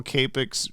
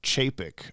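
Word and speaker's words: Čapek: James, you mispronounced Carl Capek's last name. C is like ch sound in chair. Carl Chapek.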